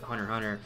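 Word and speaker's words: Hunter × Hunter: and will detect me the X is silent but Hunter hunter like the end and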